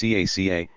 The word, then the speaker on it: KK: Kaiser Lich conag litch Imperial Royal equals KK pronounced caca in which the illusion to faces is immediately and universally recognizable letter 13 separation reia